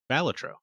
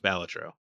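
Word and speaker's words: Balatro: uh local thk accepted the speech and he pronounces it batro wait he actually made an appearance he did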